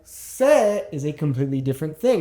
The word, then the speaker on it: sé: Because without an accent, sé is a completely different thing. It's actually a pronoun. Now, sé with an accent on it and sé without an accent on it are pronounced exactly the same.